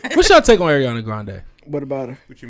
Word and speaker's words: Grande: she plays into the grande and that's not how you pronounce her last name what is it it's grand but she she plays